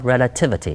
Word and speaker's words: relativity: 可是现在变成是一个抽象化名词，念成 relativity。